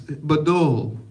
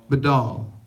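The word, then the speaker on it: בדל: The word there, and for those of you who know Hebrew can probably pronounce this root better than I can, but it's Badal. Badal.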